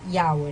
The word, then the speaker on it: Yahweh: La clave está en la frase yo soy y especialmente en la frase yo soy el que soy, que se pronuncia Yahweh, ¿no es cierto?